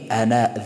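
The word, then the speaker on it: أنا: هر جایی که کلمه انا ذکر شده باشه برای متکلم بدون الف تلفظ می شود. انا در قرآن کریم در هر جایی که ذکر شده باشه ای بدون الف تلفظ می شود، الف تلفظ نمی شود.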